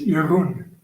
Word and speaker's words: Jeroen: And can you pronounce your name so I can practice saying it? Yes, it is Jeroen. Jeroen.